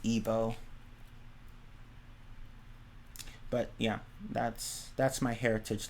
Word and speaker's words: Igbo: It's pronounced Igbo.